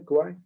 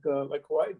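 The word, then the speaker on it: Kawhi: How do you pronounce his name? Kwali? Kwali.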